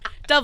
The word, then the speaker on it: Dove: So there are a lot of people who allegedly are being considered, including Sydney Sweeney, Dove Cameron. Dove Cameron. Dove Cameron. Dove like the body wash.